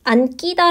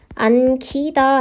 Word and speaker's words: 안기다: 니은 뒤에 나와 있지만 앉기 다 라고 발음하는 것이 아니라 피동 의 의미를 가지고 있기 때문에 안기다 가 앉기 다가 아니라 안 쥐다 라고 발음 한다는 거죠 된소리로 발음하지 않고 4동 도 간단하게 정리해보면